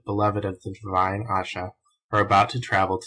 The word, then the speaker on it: Ayesha: he may add that the name asha which since the days of the prophet muhammed who had a wife so-called and perhaps before them has been common in the east should be pronounced asha introduction verily and indeed